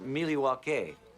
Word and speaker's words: Milwaukee: Well, I hope to see you in the next one, as we're headed up to Milwaukee, Wisconsin this coming week. So until then, take care. Actually, it's pronounced Milwaukee, which is Algonquin for the good land.